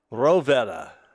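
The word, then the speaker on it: Rohwedder: Otto Frederick Roetta would be the German pronunciation. Probably pronounced it rower here in the States.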